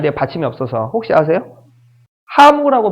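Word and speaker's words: ハム: 하무라고 발음합니다. 햄이 아니에요. 하무. 하무 이런. 햄이 아니에요. 하무예요.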